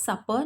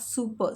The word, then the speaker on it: supper: You pronounce it as supper, not super. Super spelling is super. Over here we have spelled it supper. So it is supper.